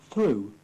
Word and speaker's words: through: The silent GH. 8. Daughter. Through. High.